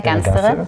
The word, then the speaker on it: Gansterer: So, dear friends, today we are at Impact Hub with Lena Gansterer. Did I pronounce it correctly? Yeah, it's fine. Lena Gansterer, yes.